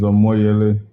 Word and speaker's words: Omoyele: uh just to correct my first name is amoyeli you have it correct on on on the platform but i think your pronunciation is a way of it but these are more